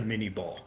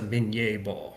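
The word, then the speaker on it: minié: 1850s and the 1860s, you've got the mini ball, right? Or or or more closely, I think, pronounced in French as the min ball, right?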